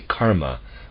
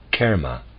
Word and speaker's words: karma: its spelling very people very often say karma with broad a sound this is incorrect it should should be pronounced Kera with modified vowel sound close parenthesis wait continued